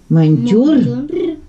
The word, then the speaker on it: монтёр: Монтёр. Опять неправильно произносишь. Монтёр.